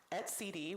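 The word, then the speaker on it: etcd: responsible for exposing the kubernetes API for use at CD which I am now pronouncing correctly in this talk which is a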